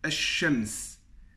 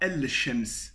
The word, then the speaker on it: ash-shams: Par exemple, si je dis ash-shams. Ash-shams, ici je prononce le premier alif, et ensuite je dis ash-shams. Je ne dis pas al-shams, c'est un peu trop lourd.